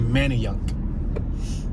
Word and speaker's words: Manayunk: main street manny yuck it's spelled man of younk but i've heard people say manny young like they say the a is like a why like many but it's really manny young we got united artists